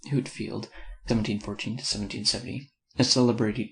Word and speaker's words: Whitefield: In 1739 arrived among us from Ireland the Reverend Mr Whitefield, George Whitefield, pronounced Whitfield, 1714 to 1770, a